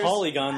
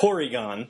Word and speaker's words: Porygon: No, I'm not going to say polygon like an Asian. I No, it's Porygon. Porygon. Yeah. Pronounce the L like an R.